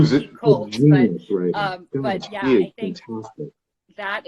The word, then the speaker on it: Picoult: And I just, it's based on is it Jodi Picoult or Jodi Picoult? I'd never known how to pronounce it. Yeah, Jodi Picoult. Yeah, it's spelled like Picoult, but I think fantastic.